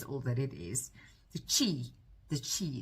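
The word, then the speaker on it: qi: The chi. The chi. It's spelled Q I.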